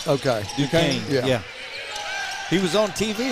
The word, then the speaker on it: Duquesne: Duquesne. Duquesne. Okay. Duquesne.